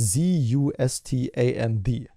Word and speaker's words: Zustand: So it's, I can't really spell on English, but it's Z-U-S-T-A-N-D. So Zustand. That's the German name. You properly pronounce it. It's my obligation as a German citizen to tell you how it's properly pronounced.